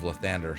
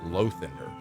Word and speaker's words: Lathander: Well, that wasn't a that was the Temple of Lathander, so. Although for some reason he pronounced it Lothander. Like it's L-A. Lathander. The Morning Lord.